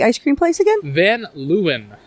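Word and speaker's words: Van Leeuwen: in the East Village and how do we pronounce the ice cream place again then lewin van Lewin yeah you got a lot of cool little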